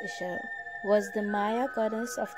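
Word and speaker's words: Ixchel: consider outside influences such as nature the shell pronounced isha was the maya goddess of the moon of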